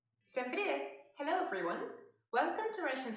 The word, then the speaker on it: Привет: Всем привет!